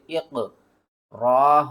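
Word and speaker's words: اقرأ: چلے اس کے ہجے کرتے ہیں، حمزہ قاف زیر اق، را حمزہ زبر را، اقرا، یہ جو قرآن پاک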